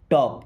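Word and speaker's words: talk: टॉक। यहां पे L silent है।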